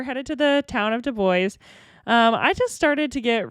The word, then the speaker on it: Dubois: And yes, it is pronounced Dubois. They had stickers that would be like, "It is not Dubois." But we were headed to the town of Dubois.